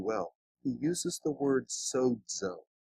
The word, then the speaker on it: sozo: He uses the word sozo. S-O-Z-O, but it's pronounced sozo.